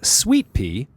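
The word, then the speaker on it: Suite-Pee: So here's the first track, titled Sweet Pea. Take note that sweet is spelled S-U-I-T-E and P is spelled P-E-E.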